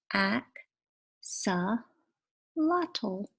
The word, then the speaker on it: axolotl: in case you're wondering my name is pronounced AK saw lot ol wish the words weren't